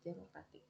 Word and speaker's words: democratic: The first one is democracy to democratic. Base democracy, primary stress on muck. Derived democratic, primary stress on crit.